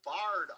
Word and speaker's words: barred: radar is a beautiful barred owl not barn but barred it's spelled b-a-r-r-e-d this